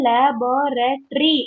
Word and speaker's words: laboratory: நீங்க வந்து laboratory அப்படின்னு போயிடுறீங்க. It's not tree, it's terry. அப்ப எவ்வளவு syllables வருது? Laboratory. 5 5. syllables. It's 5 syllables.